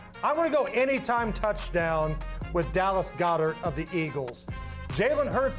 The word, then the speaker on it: Goedert: So you're like, I don't even know how to pronounce Goddard. Goedert. And Goddard. I don't, yeah, and it's like Gogurt.